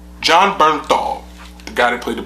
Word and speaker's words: Jon Bernthal: John, how do you pronounce his name? All right. Jon Bernthal? Jon Bernthal, the guy that played the Punisher.